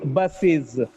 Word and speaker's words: buses: When it gets es to become the plural, the pronunciation is buses, buses. It's not buses. It's not buses. Buses, buses. Okay?